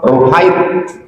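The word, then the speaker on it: رهيط: Ar-ruhaitu bi dhammir ra, cara membacanya huruf ra-nya dhammah, ru. Tasghir rah, ruhait.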